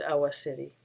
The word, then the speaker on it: Awa Tsireh: It should be noted that the common pronunciation of his name is Awa Tsireh. However, his family confirmed to Diana Pardue, chief curator at the Heard Museum in Phoenix, the proper pronunciation is Awa City.